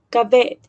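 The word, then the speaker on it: כָּבֵד: Entonces, esta palabra en hebreo, la pronunciación es cabet.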